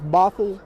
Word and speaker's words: Bothell: I think it's Bothell, Washington.